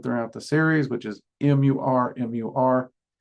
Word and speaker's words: Murmur: That's been something I've just constantly done throughout the series, which is M-U-R, M-U-R. And the most common pronunciation I've heard is murmur, so that's the one I'm going with, okay?